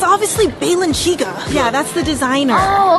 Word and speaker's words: Balenciaga: You guys, it's obviously Balenciaga.